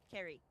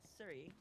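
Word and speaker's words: Ceri: I am going back to using my name the proper way that it's pronounced, which is Carrie. Carrie. So, Carrie is my name and not Siri.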